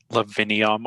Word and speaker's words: Lavinium: So because pronunciation is so subjective and not necessarily uniform, because in antiquity there were examples of V's being V and not W, like we generally pronounce them, Lavinium will be accepted from Florida.